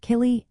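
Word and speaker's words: céilí: The term kay is pronounced killy and is used specifically for these social gatherings.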